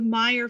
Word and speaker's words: Meyer: There are, for example, the Levi, L-E-V-I, and the Levy families with a Y, the Meyer families, M-E-Y-E-R, and the Meyer family, M-A-Y-E-R, and both were pronounced Meyer.